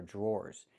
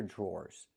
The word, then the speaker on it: drawer: The dr makes a j sound like a juice and jump. Plus the r j. Then we have the or sound like more and door. Drawer. Drawer.